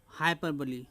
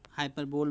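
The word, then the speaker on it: hyperbole: Yes student, next figure of speech है हाइपरबली। हाइपरबली, हाइपरबोल भी इसको प्रोनाउंस करते हैं, बट शुद्ध प्रोनाउंसिएशन हाइपरबली कहा जाता है, तो आप भी हाइपरबली ही बोलिए। इन हाइपरबली a sentence is made emphatic bye over statement.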